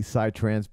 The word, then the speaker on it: psytrance: Like, it's an Israeli psytrance band from the 2000s. Say that genre again, please. Psytrance. It's Israeli. Yeah. Israeli psytrance. And psy is spelled like P-S-Y, which means psychedelic.